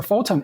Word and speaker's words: Photon: It's a Photon. It's Phton. It's very similar to Proton, but with the letter H.